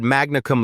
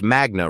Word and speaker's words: magna: You said Magnaum la Harvard Law in your introduction. But you pronounced Magna wrong. It's magna, not magna. Latin stress patterns fall on the penultimate syllable when it contains a long vowel.